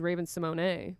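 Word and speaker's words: Raven-Symoné: Raven Simone. Her actual pronunciation is Raven Simone, but she doesn't correct anybody.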